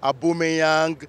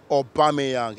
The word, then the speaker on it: Aubameyang: sports fans get to pronounce all sorts here the likes of a boomerang a boomerang or he had them em Eric or some of them actually said Emirates but I mean the representation has to be Pierre Emerick Obama young he's a national player